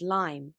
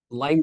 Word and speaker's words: Lyme: actress Jenny Jax uncovers lime with Professor Jack Lambert before we begin I